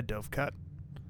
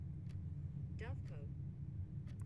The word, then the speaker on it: dovecote: Hi, Dovecut. Actually, hold on. I'm going to clear something up really quick. I want to look up the pronunciation of that middle one right now. Dovecote.